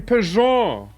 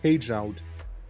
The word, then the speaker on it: Peugeot: Oh, you mean Peugeot? Peugeot. Yeah, Peugeot. Of course. Why am I reading it like page out?